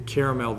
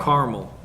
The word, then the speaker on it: Carmel: experience on Mount Carmel I always say it wrong because it's not like the it's not like the caramel that you eat caramel caramel caramel caramel Mount Carmel so he's up there